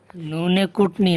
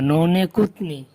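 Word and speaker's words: نونِ غنہ: নুনে কুটনি না, নুনে কুতনি।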